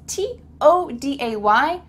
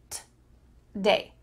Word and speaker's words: today: Instead, you're going to cut out that O sound and just say t-day, t-day.